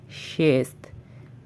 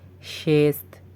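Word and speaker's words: шесть: অতঃপর হচ্ছে চেতিরি চেতিরি চেতিরি বা চার অতপর নাম্বারটি হচ্ছে পেয়াত পেয়াত পেয়াত বা পাঁচ আমাদের পরবর্তী নাম্বারটি হচ্ছে শেষ আবারো বলছি শেষ শেষ বা ছয় পরবর্তী নাম্বারটি হচ্ছে স্যাম স্যাম বা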